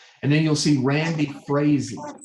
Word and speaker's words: Frazee: then you'll see randy frazee that's how you pronounce his last name is is frazee um and so you'll